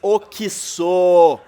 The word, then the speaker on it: Oxo: Escrevem no letreiro, pronuncia-se oquiçô.